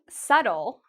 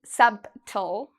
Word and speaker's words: subtle: This word, subtle, is a word many native speakers make mistakes with because native speakers actually see the B and they really want to say it, but it's incorrect. We don't say subtle.